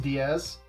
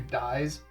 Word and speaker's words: Dies: they don't understand that the first part of her screen name is actually kind of Latin, and so it's pronounced Diaz as opposed to Dies.